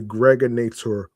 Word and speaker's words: Gregonator: I'm your man, aka the Gregonator, rhymes with now or later.